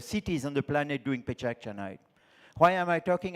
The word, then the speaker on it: PechaKucha: Pechakucha, in Japanese it's pechakucha. We have a Japanese friend here.